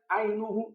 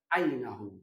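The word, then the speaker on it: عَيْنَهُ: pun ikut mansub ainahu Jangan dibaca roitu muhammadan ainuhu salah atau roitu muhammadan ainii salah tapi yang benar roitu muhammadan ainahu taukid mengikuti Isim sebelumnya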